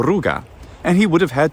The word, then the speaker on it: Ruga: like this ruga and it looks like it's ruka but it would have been the ruga and he would have